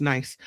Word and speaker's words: Nice: Donna says niece is pronounced nice.